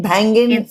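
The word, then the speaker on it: Bhangin' It: Banging it, banging? It's banging it, but it is spelled like Bhangra, Bhangin, banging it.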